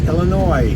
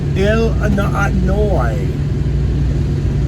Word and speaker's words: Illinois: It's not Illinois with an S. It's Illinois. That's how you pronounce it, folks. Illinois.